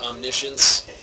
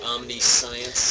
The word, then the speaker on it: omniscience: tell you though uh the card is pronounced omniscience and not omniscience that one uh say here